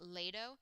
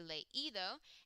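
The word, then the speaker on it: leído: an accent on it, because if you didn't have an accent here, you would pronounce it ledo. But you want to keep the sound of ido, so it has to be leido.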